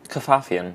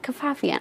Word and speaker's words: Kafafian: Kafafian. Kafafian.